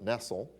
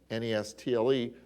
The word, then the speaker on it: Nestle: was by Everhard Nestle for years I pronounced at Nestle n est le but I found out he wanted it pronounced Nestle ever heard Nestle it's the Nestle text